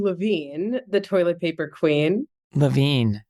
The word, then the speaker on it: Levin: Levine, sorry about that. That's okay. It's a mistake that most people make because it's spelled Levin. But Levin doesn't rhyme with toilet paper queen. And my family has always gone with Levine.